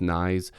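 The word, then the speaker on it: Knies: he definitely could um matthew nyes i believe that's how you properly pronounce it i've heard some people say it differently but i'm pretty sure it's nice who's been really good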